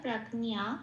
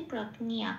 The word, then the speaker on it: প্রজ্ঞা: এখানে একটু ন ঘাসা উচ্চারণ হয়, প্রাকনিয়া এরকম একটা ইয় নয়, একটা এরকম ন ঘাসা উচ্চারণ হয় সংস্কৃততে, প্রাকনিয়া এটা বলতে হয়।